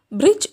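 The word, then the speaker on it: bridge: എന്നാൽ ഇംഗ്ലീഷിൽ ആ ഒരു ലെറ്റർ ഡി എന്ന ലെറ്റർ ഈ വേർഡിൽ സൈലൻ്റാണ്, നമ്മൾ ബ്രിഡ്ജ് എന്നാണ് പറയുക.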